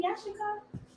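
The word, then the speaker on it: Issachar: When we say it in Hebrew, Yashikar.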